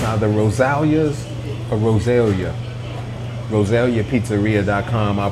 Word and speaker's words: Rosalia's: the next one peace the name of the place is pronounced Rosalia Rosalia roselia's Pizza very good